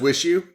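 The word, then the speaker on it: WIXIW: you oh that's awesome it's spelled like you said capital letter w i capital i w IX i w and all capital letters but but it's wish you yeah and I think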